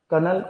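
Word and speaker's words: colonel: फिर कनल Robert kid कनल की spelling य होती है देख लेना इसको कर्नल बोलते कनल कनल इसका सही उच्चारण कनल कनल कनल बोलते नहीं बोलते तुमने मूवी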